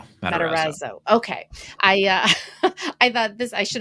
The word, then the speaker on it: Matarazzo: Matarazzo.